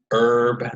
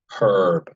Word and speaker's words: herb: East, potato, potato, and West Coast is herb, the H is silent, and East Coast is herb.